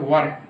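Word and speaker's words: were: इसे इंग्लिश में सही प्रोनाउंसिएशन क्या है, वर, वर, वधु वाला वर्ड पढ़ा जाता है।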